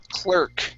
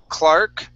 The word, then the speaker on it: clerk: Next up is the word clerk. Instead of Clark, Clar, it's an er sound only.